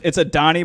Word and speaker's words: Adonai: Adonai Mitchell. That No, goes it's hard. a Donnie, but spelled like God.